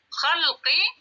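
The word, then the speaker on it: خلقي: Apa bedanya khalqi dengan khallaqu? Lihat ke sini. Khalqi itu dengan khallaqu. Khalqi, ini bacanya khalqi, ini bacanya khallaqu.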